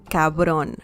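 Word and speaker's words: cabrón: thought you said capital capital uh this is pronounced cabron cabron say it like you mean at mysterious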